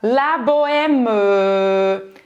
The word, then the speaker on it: la bohème: Ou seja, na música de Charles Aznavour, ele fala la bohème. La bohème. Ele pronuncia esse E no final. Simplesmente esse E parece que nem existe quando você usa essa palavra numa frase na vida real, certo?